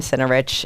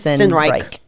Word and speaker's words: Sinreich: I've always said your name, Centerich, and you have told me today. I've known you for 4 or 5 years now. I think and so. It's Sinreich. Sinreich. Yeah. Well, I didn't say it correctly, but you know what?